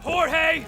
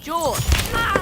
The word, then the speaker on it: Jorge: Last one up gets it, Jorge! My name's pronounced George.